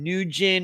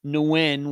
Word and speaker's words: Nguyen: tv videos about his disappearance and they all pronounced his uh last name nugent or nugent or something but uh brett and i decided that um you know he believed that they wanted to pronounce nguyen which is the way i always thought that